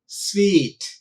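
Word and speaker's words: suite: plama no bar no already and plumber s-u-i-t-e sweet c-h-e-r-i-s-m-a Karishma so uh third strategy of learning a new word is pronunciation and that the pronunciation you must look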